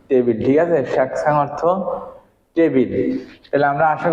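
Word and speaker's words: 책상: হবে দেখেন উনি স্বর ঠিক আছে ইয়ং এর উচ্চারণ কার মতে হবে 19 স্বরের মাধ্যমে তাইলে আমরা কি লিখলাম সাং স্যাকশাং স্যাকশাং মানে কি টেবিল ঠিক আছে স্যাকশাং অর্থ টেবিল তাইলে আমরা আশা করি বুঝতে পেরেছি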